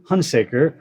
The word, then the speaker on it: Hunsaker: i have the pleasure of speaking with hunsaker of paws whiskers and wags thanks for having me i mispronounced your name didn't i no you did